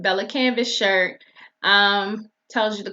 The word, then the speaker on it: Bella Canvas: canvas shirt and y'all forgive me if I've ever said canvas pelicans it just sound better that way I know that's not the name and I know I pronounce things wrong sometimes judge your mama so here's the camp up to y'all about to say it Bella canvas shirt um tells